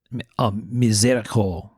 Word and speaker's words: miséricorde: I'm going to try to give my French pronunciation because I know it will amuse Michael Birch. Mm-hmm. This is I tried to look this up on how to say it. Miséricorde, or a miséricorde in American English, which is, from what